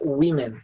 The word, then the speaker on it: women: Só que, mesmo mudando só uma letra, a pronúncia muda até na primeira sílaba. Então, a gente realmente pronuncia women, tá certo?